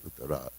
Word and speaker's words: Uttara: So anyway, they had the same name with a different pronunciation of the last letter. Uttara is the lady, Uttara is the man.